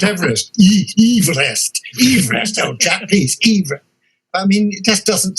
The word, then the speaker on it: Everest: Everest, the geographer, and he pronounced his name Everest.